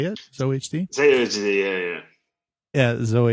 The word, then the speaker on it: ZOHD: and zohd is that how you say it zohd ZD yeah yeah yeah zoh HD all right